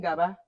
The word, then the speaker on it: ga: You keep saying Gaba. It's not Gawa, just Ga.